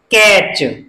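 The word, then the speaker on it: catch: यानी इसमें भी लास्ट में क्या है, टी सी एच, तो टी साइलेंट रहेगा, तो इसको हम कैसे पढ़ेंगे, कैच।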